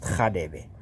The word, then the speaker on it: Radebe: The name is written as R-A-B-D, R-A-D-E-B-E, Khadebe, Radebe, but it's pronounced Khadebe. It is that guttural R that you find in Mufokeng, but it ultimately became a K.